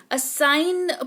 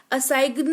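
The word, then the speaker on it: assign: तो सिर्फ एन का उच्चारण होता है और जी जो है वो साइलेंट रहता है। तो इसको फॉर्गन नहीं फॉरेन पढ़ेंगे। जिसका मतलब होता है विदेशी। असाइन पढ़ेंगे। असाइगन नहीं पढ़ेंगे जिसका मतलब होता है सौंपना।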